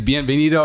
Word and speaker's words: Bienvenido: He says his name's Bienvenido, and I'm like, what?